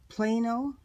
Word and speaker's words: Plano: to Australia not Austria this is a Plano I think is how you pronounce it tackle box my husband